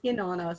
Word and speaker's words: Inanna: It's Inanna, so like Inanna. at the top, but Inanna. I get some very interesting pronunciations of it.